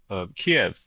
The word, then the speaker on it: Kiev: Uh the capital of Kiev uh or Kev, however people are pronouncing it in the in the English world these days.